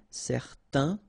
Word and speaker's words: certain: and then they will produce this un sound. Okay, so it's nasal in your nose, un. Okay, if you add this at the end, then it will change the thing, and then you will pronounce it n.